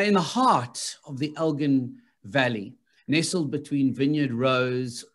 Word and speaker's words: Elgin: want to say Elgin, this Elgin, nee, it's Elgin. Yeah, we say Elgin, yeah.